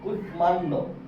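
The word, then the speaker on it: কুষ্মাণ্ড: যুক্ত প্রতিপ সংস্কৃত শব্দে ম ফলার বানান ও উচ্চারণ সংস্কৃত নিয়মে হয়ে থাকে যেমন মান্ড কুশমান্ড কুশমান্ড এখানে সচরাচর নরমাল নিয়ম যেটা শব্দের মাঝখানে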